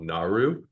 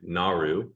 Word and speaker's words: Nauru: So the Pacific island nation of Nauru, or yeah, I believe I'm pronouncing that right, Nauru, Yep.